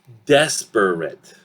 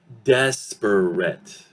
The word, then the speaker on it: desperate: The next word is desperate, right? If I say it slowly, syllabically, yes, it will sound desperate. 3 syllables. Let's apply reduction and see what we get. Very quick. Desperate. Desperate. 2 syllables.